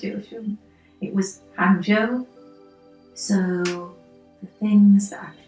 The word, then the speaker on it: 杭州: university yes I'm trying to get the correct pronunciation it was hjo I said it was hjo so the things that I particularly enjoyed about